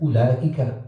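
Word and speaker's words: أولئك: properly, or for example, you write ulaika without the wow. So the fact that it's not pronounced doesn't mean it's not written.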